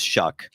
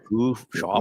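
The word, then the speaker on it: Shough: It is Shuck. It is Shuck? Think of like shucking corn. That's how. Yeah, it's Shuck. Okay. I know it's spelled like shog. Yeah. Shoff. Yeah, I thought it was show like dough.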